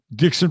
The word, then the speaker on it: Dixon: Gene Dixon, so Dixon rhymes with Nixon, and Richard Nixon's wife, Pat, used to read Gene Dixon's horoscopes in the newspaper.